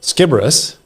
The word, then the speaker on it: Sciberras: the chairman of the IFBF, and I'm here with Daniel Skiibbrus.